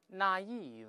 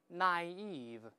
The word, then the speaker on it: naive: I 都行，分别读一下 naive，或者像本文音标里注音这么读也行 naive，两个发音都行。